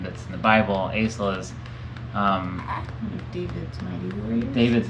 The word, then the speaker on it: Asael: Asael David Melonakos. Oh, wow. That's a great name. That's Okay, a great name. and for the camera, spell Asael. Asael. Beautiful. We have the pronunciation confirmed by A BYU professor, general conference